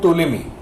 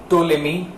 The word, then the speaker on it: Ptolemy: Actually, there was a man called Ptolemy, P-T-O. The name starts with P, but the P is silent. Ptolemy, Ptolemy.